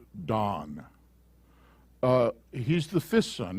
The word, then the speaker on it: Dan: 30 verse 6 dan it's pronounced dawn uh he's the fifth